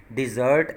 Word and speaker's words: dessert: Then the word dessert, we will change mean while pronouncing E, more stress, or will make this word as sound like I, dessert, and then we add another S, so it will become dessert.